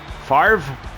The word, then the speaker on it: Favre: Favre. That's it. People always say Brett Favre. But it's written F-A-V-R-E, right? So where does that pronunciation come from?